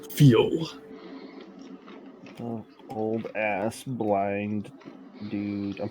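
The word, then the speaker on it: Fiil: to the one i go by now is feel you may call me feel uh how do you spell that good sir f i i l feel old ass blind dude i'm putting in my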